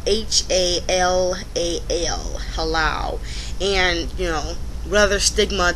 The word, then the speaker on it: halal: It's spelled H-A-L-A-L, halal.